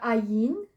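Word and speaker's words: ע: Okay, so this one, this is the ayin. Ayin is a silent letter, so we've got no sound. So you instead it goes straight to the sound of the vowel, which is the air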